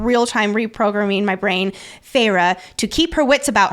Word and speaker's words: Feyre: So I always pronounced it Farah. And until last episode, the beginning of the episode, Nicole is helping me reprogram my brain to calling it Feyre.